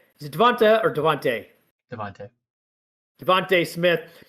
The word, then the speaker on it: DeVonta: Devontae. Devontae Smith. It's spelled Devonta, but it's definitely Devonta.